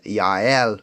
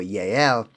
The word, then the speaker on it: Jael: firstly with her name it should properly be pronounced as yel or yel her name means mountain or wild goat which